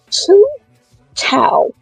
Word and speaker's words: Thao: So, Stow. Now, that's not how I put the spelling up, but that's how you pronounce it.